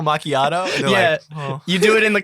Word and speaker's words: macchiato: not the way possible people don't know how to say macchiato we have a caramel macchiato they go yeah let me get the caramel machado and i'm like oh caramel macchiato you do it in